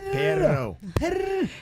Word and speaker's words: perro: Perro. Oh my You gosh. roll the R's Two, you more. roll your- 2 I R's, just yeah. can't Yeah, roll. 2 words. Perro. Perro. And perro is dog butt.